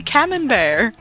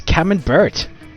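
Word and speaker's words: Camembert: we're at Camp none of you can say camon bear it's camon B it's called No the tea is silent it's French the true cheese if Enthusiast Wallace from Wallace and grommet says it was called camon bird no it's not C bird that is a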